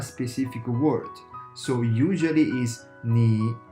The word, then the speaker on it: 你: like a native speaker, when Chinese people pronounce the third tone, they usually keep it always low.